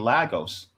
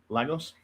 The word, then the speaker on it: Lagos: Is it Lagos or Legos? Legos. Anyways, because of that, because